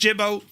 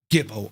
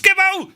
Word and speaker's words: Gibbo: And it's not pronounced Jibbo, but you see a name because this entire setup is from our very own Gibbo Ireland. Look, it's Gibbo.